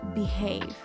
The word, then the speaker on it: behave: It's be and have, but we pronounce it behave.